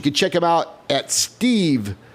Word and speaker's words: Stiv: You can check him out at Stiv, Thank you. and it's spelled S-T-I-V. I know we've said Steve, and it's pretty easier than Stiv, but it's at STIV_AWD.